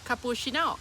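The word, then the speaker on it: คาปูชิโน: right point and capuccino capushino capushino so again we're changing that Chino to Shino capushino okay I don't think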